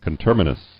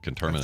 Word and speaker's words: conterminous: go I'm putting the I'm putting the emphasis on the wrong salel um contus okay I here I have a pronunciation of it right here conterminous yeah you're right conterminous that's it right there conterminous United States that